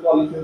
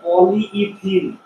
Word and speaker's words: পলিইথিন: আমরা যে বাজার সদর করার সময় কিছু একটা কিনতে গেলে পলিথিন ধরে না, আসলে এটা পলিইথিন, ইথিনের অনেকগুলো অণু, পলিমের অনেক, ঠিক আছে, আসলে এটা উচ্চারণ হবে পলিইথিন, অনেকগুলো পলিথিন, পলিথিন বিষয়টা এরকম না, পলিইথিন।